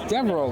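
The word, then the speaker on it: Devereux: That's Devereaux, bro. Devereaux. See, I never knew how to pronounce that.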